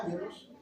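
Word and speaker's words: ἄγγελος: un ángel, un angelos, se escribe angelos, se pronuncia ángelos.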